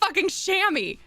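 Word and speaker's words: chamois: this word which I would think would be pronounced like shoa or like something yeah it's called a shammy why who decided that that's wrong it's wrong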